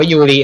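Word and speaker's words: ゆり: เหรอ โอโห ด ด่อ ลิลลี่ ภาษา ญี่ปุ่น มัน อ่าน ว่า ยูริ นะ ครับ ใ บอก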